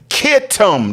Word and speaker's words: Kittim: Javin's son, Kittim. That's what that Chettiim is. It's actually Kittim, K, spelled with a K, in the regular King James.